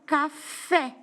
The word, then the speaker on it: café: posso dar o exemplo da palavra café, onde a última sílaba forte é o fé.